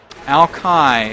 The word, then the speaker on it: Alki: the morning for San gamer Alki is how it's pronounced though oh you know